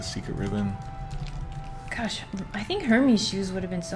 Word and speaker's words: Hermes: Okay, since it's a Greek name, I think, right? The H, there's no H sound here. It's so like it's Hermes. Hermes.